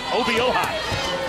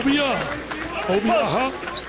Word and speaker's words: Obioha: Victor Obioha. I spent some time with the pronunciation guy before tonight's game. Obioha.